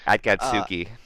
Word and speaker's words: Akatsuki: Yeah, that was well done by I need to look up the name of this team so I know how to pronounce it. Yeah, Akatsuki.